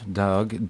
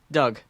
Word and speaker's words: Doug: actor called doc jones dog dog is a really hard name for us to pronounce it can you do it doug doug like d-o-u-g yeah yeah doug doug